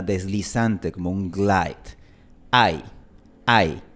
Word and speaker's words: ay: No decimos ahí, sino ay. De hecho, si tú pronuncias ahí, estarías cambiando el significado, porque tenemos en español la palabra ahí, que esta palabra se pronuncia a i. Así que tenemos ahí con diptongo, ahí sin diptongo, dos sílabas.